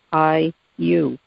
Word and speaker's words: Ayllu: I've always found that to be the perfect word for community because it is pronounced I-U.